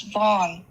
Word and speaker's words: Vaughn: Her name is pronounced as Vaughn. Vaughn.